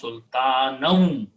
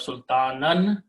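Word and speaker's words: سلطانا: Now the word wa means and there's a shadda on wa because we pronounce sultanum. Instead of sultanan, you combine with the waw and become sultanum. Okay, after that is the word ma laysa lahum bihi ilm.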